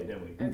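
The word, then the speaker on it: Dinwiddie: Um, just as you talk about EC Glass and how do you pronounce these schools? Denwitty. Oh, yeah. Denwitty.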